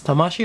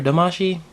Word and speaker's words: Tamashii: Not sure if it's Tamashii or Damashii. Sometimes it's spelled with a T or D, but it's all the same.